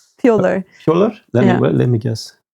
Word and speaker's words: pjöller: Yeah, so pjoller means being silly. Yeah. Kind of. Oh, I like that one. Or no, you say pjoller.